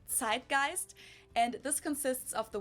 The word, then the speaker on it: Zeitgeist: some other languages too Americans usually say Zeitgeist in German we pronounce it TI gist and this consists of